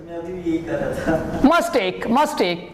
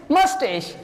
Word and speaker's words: mustache: A long time ago, I personally used this word as mustache. Mustake. I used it, but when I realized that this is not the correct pronunciation, the correct pronunciation is mustache, and Charlotte.